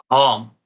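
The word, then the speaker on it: हम: It is the Maithili hum, which is spoken with an extra stress on the O that appears after ha.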